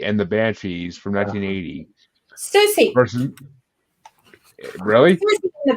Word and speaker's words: Siouxsie: Susie. Versus, really? Susie and the Banshees. Yes, Susie.